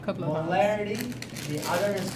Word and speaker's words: molarity: One is called molarity, the other is called molality.